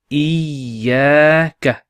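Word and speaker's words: إِيَّاكَ: So the two yas here are represented with one ya with a shadda on top. They're exactly the same. Okay, and it's pronounced iyaka.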